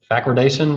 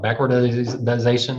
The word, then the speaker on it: backwardation: I always say it backwards, but backwardation, y'all ever heard of that? Sometimes I call it backwardization. I put an extra syllable in it.